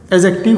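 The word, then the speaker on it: adjective: मेरे प्यारे दोस्तों, ये जो डी है ये बोला नहीं जाता। ए और जे के बीच में डी कभी बोला नहीं जाता है, हमेशा साइलेंट रहने वाला होगा।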